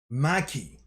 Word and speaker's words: Maki: of these characters properly maki not my maki follows with another follows up with another attack and hits this um dagon character and at the same time while so ma um maki follows up with a